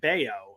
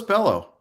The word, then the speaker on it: Bello: sox rookie uh brian baio uh pronounced like scott baio so i did get that one right for once um oh i thought it was bellow because is it because